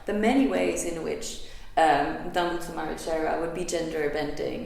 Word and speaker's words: Dambudzo: He also says that Dambudzo, which is often pronounced more like Dambudzai, in Zimbabwe is generally a name that is always given to women, to girls.